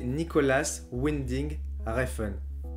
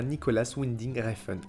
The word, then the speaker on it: Nicolas Winding Refn: Non, ça se dit Nicolas Winding Refn.